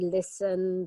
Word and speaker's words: listen: Also, yeah, things like the castle and listen, that missing T can often be a problem.